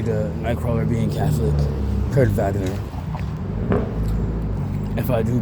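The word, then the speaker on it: Wagner: That's one of my favorite things about German language is how the W sounds like a V.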